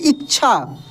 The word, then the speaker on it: इच्छा: है छ आता है उच्चारण के समय ऐसा लगेगा कि छ ही केवल है लेकिन इच्छा नहीं पढ़ेंगे इच्छा इच्छा देखिए छ का उच्चारण होता है काफी तेजी में क्योंकि आधा है तो